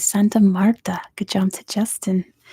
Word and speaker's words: Santa Marta: and I like look I'm like is that Santa Marta I'm pronouncing her forever it is Sierra NADA de Santa Mara Santa Marta not Maria anyway number 11 much